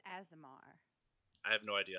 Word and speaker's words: Aasimar: Aasimar, right? Pally? Yeah, Aasimar.